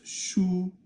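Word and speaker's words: 书: Now that's shu, which means a book. It's first tone.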